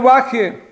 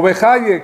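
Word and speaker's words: Bachya: Dice Rabenu Baje, o Bejaye, como quieran pronunciarlo, increíble, en la Perashá dice así, no harás dioses de plata y dioses de oro, ídolos.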